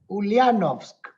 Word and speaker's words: Ulyanovsk: Because the first thing I asked, I wanted to visit a person which lives in Ulyanovsk, right? Did I pronounce correct?